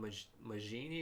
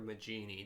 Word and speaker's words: Majini: They are what are called Majini or Majini, depending on your pronunciation.